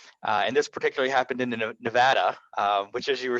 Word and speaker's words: Nevada: oh, it's great to be out here in Nevada. And they were like, it's Nevada, and you clearly ain't from around here.